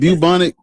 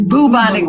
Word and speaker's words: bubonic: Is it bubanic? It's bubonic plague.